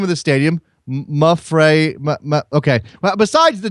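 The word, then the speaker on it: Mapfre: Mafre.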